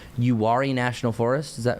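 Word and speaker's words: Uwharrie: UI National Forest. Is that how you say it? Yeah. Yeah. So, the URI National Forest um since they do have some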